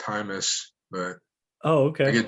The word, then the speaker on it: Jaimes: name right first of all uh it's actually pronounced thymus but oh okay i get james a lot yeah it's pronounced hi miss okay good to know all right man well